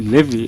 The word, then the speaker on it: Levi: Is it Levi or it's Levy? Levi is the right pronunciation, but most people call me Levy. I accept.